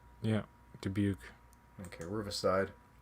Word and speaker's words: Dubuque: it riverside davenport how do you say that dubuque yeah dubuque okay riverside how many times would the phrase